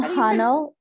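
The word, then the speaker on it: Jano: is with a j uh spanish pronunciation right is it a jose or no we call them hano short for alejandro okay that's fine how do you spell it j-a-n-o thank you we're there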